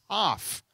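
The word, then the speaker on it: כף: One is the letter Kaf, like cough. That's how you pronounce the letter.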